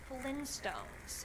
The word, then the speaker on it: Flintstones: as so no apparently it's the Flint stones with the hard t uh I refuse to